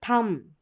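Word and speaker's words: thumb: यानी यहां पर देखिए थंब म बी साइलेंट है।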